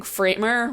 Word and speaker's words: Framer: some people are using framer which is a newer tool and also happens to rhyme with my last name Kramer um just pointing that out